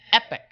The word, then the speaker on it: Epoch: It's even though it's spelled Epoch, I would say that's Epoch, but it's pronounced Epic.